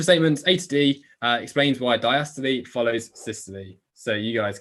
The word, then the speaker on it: diastole: say diastole and systole it should be pronounced diastole and systole okay so which of